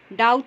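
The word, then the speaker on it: doubt: knit में के silent है, रॉन्ग में W साइलेंट है, डाउट में B साइलेंट है, उसके बाद ये नो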